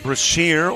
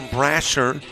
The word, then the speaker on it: Brasher: Micah Brashier or Brasher. B R A S H E R. I've heard both pronunciations.